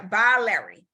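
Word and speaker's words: biliary: a louder by louder b-i-l-i-a-r-y I can't pronounce it yeah by Larry so to buy remember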